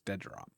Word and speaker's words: Deadrop: Okay, so if anybody's not paying attention, it's Deadrop. Deadrop. Oh, Deadrop. My bad. It's real important that I never pronounced that other D.